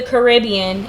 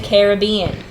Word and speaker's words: Caribbean: It's not Pirates of the Caribbean, it's Pirates of the Caribbean.